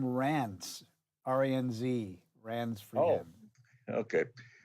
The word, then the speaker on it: Ranz: But anyways, R-A-N-Z is just the sound alike for Ron.